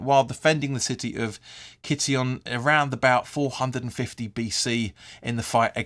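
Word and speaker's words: Kition: name comes from the ancient Greek city of City on uh sorry Kitty on I should say I think you pronounced that which was located on the site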